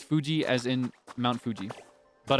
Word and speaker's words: Fuji: Likewise, the correct pronunciation for Fuji is Fuji, as in Mount Fuji.